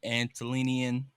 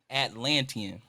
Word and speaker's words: Atlantean: And there's some intriguing Antolinian. Nope, I'm not pronouncing that right either. Say the people from the Atlantic Ocean. Atlantean.